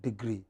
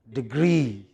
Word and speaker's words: degree: I am studying for dual degree it is not degree but degree what is it stress on the second syllable what is it degree